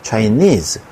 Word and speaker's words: Chinese: 마찬가지로 sheep, fish, Chinese 강세가 뒤쪽에 있습니다. Chinese, Japanese 자 이런 말들은 단수형과 복수형의 모양이 같습니다.